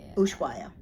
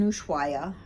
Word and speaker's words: Ushuaia: So it was in Ushuaia. Mm-hmm. So, did I say that right? Yes. Yeah, because I'm really bad at pronunciation. It was in Ushuaia, Argentina.